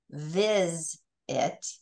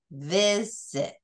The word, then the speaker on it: visit: So we don't say viz it. We say visit.